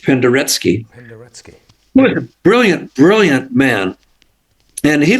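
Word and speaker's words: Penderecki: that okay Polish composer uh Christoph pandaretsky p-e-n -t-e-r-e-c-k-i pronounced pandaretsky brilliant brilliant man and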